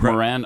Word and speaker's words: Moran: Uh Oh, it's pronounced Moran.